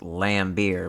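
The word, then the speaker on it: Laimbeer: has lame in it I know it's pronounced lamb beer but start calling this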